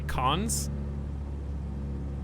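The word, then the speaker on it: Cannes: you say cons why so fancy it's like great boupon it's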